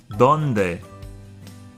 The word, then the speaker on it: donde: Donde. Donde. The D's are dental, so it's pronounced with the tongue behind the front two top teeth.